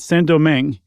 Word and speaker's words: Saint-Domingue: I read, Chuck, that Saint-Domingue, and I looked it up. I'm pretty sure that's how you say it. Yeah, I looked it up. You're right.